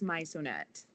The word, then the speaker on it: Maisonet: it's a Spanish pronunciation actually. It's Maisonet.